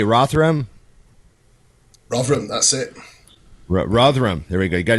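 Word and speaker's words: Rotherham: how do you say rotham Ram that's it Ram there we go you got to say it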